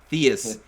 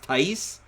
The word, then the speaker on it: Theis: stands like hey harry theist that's right thank you thank you very oh it's pronounced tice no shot i'm calling him these i don't care um